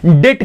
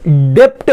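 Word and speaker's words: debt: इट is also known as डेट capital. डेप्ट मत बोलो, क्या? डेट कैपिटल, बी साइलेंट है, डेट कैपिटल।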